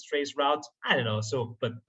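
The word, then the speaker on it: Traceroute: you pronounce it well i always call it trace route because it's about the u.s and so many people there say route and not roots although half of them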